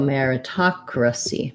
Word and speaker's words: meritocracy: of letters that um the o says ah the a says uh and the e says air so go figure um